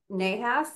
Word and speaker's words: Nahas: about your name what it means how to pronounce it properly CU I probably messed it up no that's it so nahas is my M name horm is my last